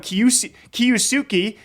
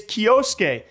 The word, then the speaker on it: Kyosuke: apparently another up-and-comer, Kyosuke, which people just keep on calling him Kiyusuke, and I'm like, I asked for a pronunciation, it's Kyosuke.